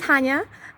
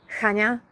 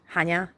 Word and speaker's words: Hania: Second of all, yes, it is Hania. And like the Polish pronunciation is Hania, and I guess the English would be Hania, and so it basically sounds the same to a non-Polish ear.